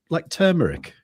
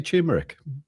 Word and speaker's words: turmeric: lot of words, like turmeric. You know, the spice. You know, they always say turmeric. Turmeric. It's got an R before the M.